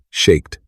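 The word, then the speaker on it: שָׁקֵד: of his watchfulness because the Hebrew word for almond, shaked, sounds like the word shoked, meaning watching.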